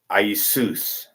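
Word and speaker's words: Ἰησοῦς: Jesus isos isus suus the pronunciation is isus seus almost sounds like Zeus I Zeus the phonetic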